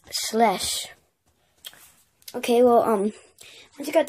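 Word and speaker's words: Schleich: Most people think you pronounce it Skelich or Schlet or, like, Schleisch. But really, it's German and it's Schlesch.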